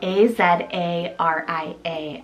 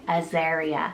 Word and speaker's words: Azaria: Starting the list off with the letter A, there's a few ways of pronouncing this one, but I love Azaria, spelled A-Z-A-R-I-A, Azaria. You could also pronounce it as Azaria or Azariah.